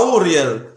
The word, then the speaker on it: Uriel: lundi soldier on ne dit pas Uriel on prononce à Auriel la taille du feu